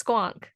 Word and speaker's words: squonk: This is a squon. Is that how it's pronounced? Yeah, it's squonk.